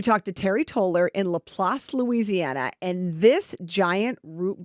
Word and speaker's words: LaPlace: Am I pronouncing that right? LaPlace, Louisiana. I was down there in June, and I was driving around getting pictures of big stuff like I do.